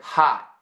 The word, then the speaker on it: hot: And notice where your tongue ends up at the end of the word. Hot. It's on the roof of your mouth, right?